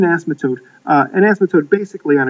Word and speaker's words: asymptote: Algebra 2 right now now I say this word wrong but uh the graph is reaching an asthma token asthma S I believe that's the right way to say it anyhow it reaches an asymptote uh an asymptote basically